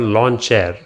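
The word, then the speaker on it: Lawnchair: and the indestructible launcher it's called lawn chair interesting way of naming it i guess it kind of rhymes with launcher but it's reminiscent of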